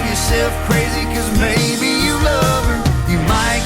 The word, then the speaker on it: Mae: her there as well may is spelled m-a-e may estes my good friend